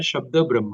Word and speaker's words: शब्द ब्रह्म: उच्चारण है शब्द ब्रह्म, तो लास्ट में आए शब्द ब्रह्म।